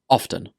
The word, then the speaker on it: often: I pronounce this word with the T sound, often, but both are acceptable.